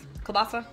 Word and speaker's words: kielbasa: Kielbasa?